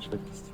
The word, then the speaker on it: швидкість: Гарна швидкість. Harna schwikst. Або добра швидкість. Harma dobra schwikst. Швидкість. Schwidekist.